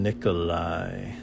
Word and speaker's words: Nikolai: I'm supposed to be doing Nikolai, Nikola, and it's pronounced like a Y.